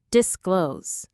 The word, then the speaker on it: disclose: Two simple parts. Disclose. The stress is on the second part. Disclose. It sounds exactly like the word close as in please close the door, but with the prefix disc at the front.